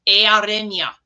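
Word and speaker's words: Eärenya: This is called the Sea Day or the Mariner's Day, and it's pronounced Earenia. Earenia.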